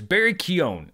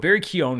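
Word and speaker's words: Barry Keoghan: name a lot in the next few years, Barry Keown. And I've never known how to say his name. I had to look up I finally found a radio interview. Barry Keown, who is apparently our next Joker, which I'm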